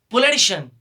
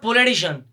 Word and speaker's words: politician: this word instance ein the correct pronunciation of this later is politician not pure edition okay it's because the